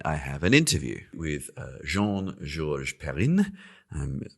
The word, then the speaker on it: Jean Georges Perrin: have an interview with Jean George perin um pronouncing It the French way because he is actually originally French although he now lives